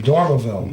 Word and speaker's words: Dormevil: His last name is spelled Dormevil. Oh Jesus! I swear to God. Oh my gosh! Of course, they called him Dormeville, Yeah.